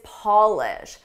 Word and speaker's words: Polish: The verb is polish. Notice the difference in the vowel.